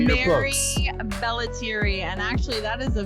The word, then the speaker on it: Mary Bellettieri: So, pronounce your name for all of us as well as the name of your book. Mary Belleri.